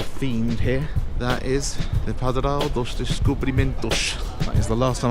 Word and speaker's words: Padrão dos Descobrimentos: If you want to pronounce the name of this thing properly, the Padrão dos Descobrimentos, to get that Portuguese tone to it, you have to kind of start sounding a little bit Russian, stereotypical Russian.